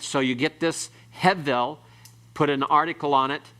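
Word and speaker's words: הֶבֶל: Hevel. Everyone pronounce it?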